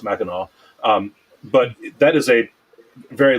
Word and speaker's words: Mackinac: which looks like it's spelled out looks like Mackinac, but it's pronounced Mackinac.